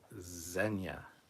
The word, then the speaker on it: Xenia: Xenia, there you go. That's how you pronounce it.